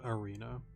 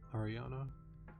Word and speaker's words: Ariana: Oh, sorry, Ariana. Sorry, not Arena. Ariana.